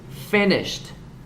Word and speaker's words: finished: Okay, remember the ED is sounds the letter T. Finished is T.